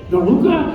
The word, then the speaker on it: Veruca: Veruca is a little biatch. So right here, I'm quite surprised that I pronounced it correctly.